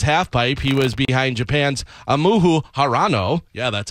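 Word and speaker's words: Ayumu Hirano: He was behind Japan's Amuhu Harano.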